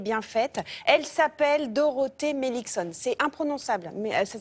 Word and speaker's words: Meilichzon: tête belle et bien faite elle s'appelle Dorothé melixon c'est imprononçable mais ça s'écrit M e i l i C H Z o n et ça se prononce mixon voilà elle a 31 an et elle est